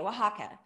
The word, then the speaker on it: Oaxaca: so i the restaurant spelled it phonetically w w w i think w a h a k a oaxaca and so it was